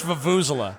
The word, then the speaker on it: vuvuzela: Fuck, how do you pronounce this fucking word? Vuvuzela? Vuvuzela? Vuvuzela, I think. Oh no, dude. It's Vuvuzela.